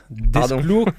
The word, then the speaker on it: d'Esclos: Donc Bernard Prats, d'Esclos, catalan, du Nord. Donc on prononce tous les S bien évidemment.